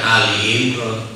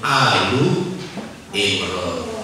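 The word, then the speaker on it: آل عمران: Bahkan pada saat rofa itu berarti belum kemasukan penasob ya, masih rofa, itu bukan Ali Imran, Alu Imran.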